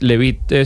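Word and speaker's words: Leavitt: Casa Blanca, eh, Carol Levit, Levit se pronuncia, Carol Levijo en rueda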